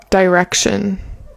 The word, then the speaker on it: direction: I would say that it's really common to reduce that word to a schwah. So instead of like direction, people often also say direction.